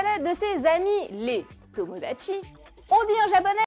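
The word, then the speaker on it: 友達: C'est le mot tomodachi qui veut dire ami.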